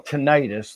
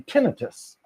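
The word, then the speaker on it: tinnitus: So today I learned how to pronounce what I used to call tenitis. The ringing in the ears sound is actually tinitus.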